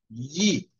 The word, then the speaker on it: gli: Se tiene que pegar la lengua al paladar y luego va bajando.